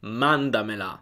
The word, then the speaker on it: mandamela: Nota anche come l'accento non si sposta. Il verbo è manda e quando aggiungiamo mela alla fine non cambiamo l'accento, non spostiamo l'accento. Mandamela, mandamela, è sempre all'inizio su manda.